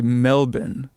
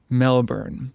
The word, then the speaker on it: Melbourne: out of Melbourne called I should say Melbourne. Melbourne. I get crap about how I pronounce Melbourne. I think some Australians get weird about it. Um an Australian indie studio, they say Melbourne but I'm not going to do that cuz I don't have an Australian accent.